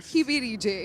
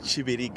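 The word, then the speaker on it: Kibirige: It's not Kibiri J. It is Chibir.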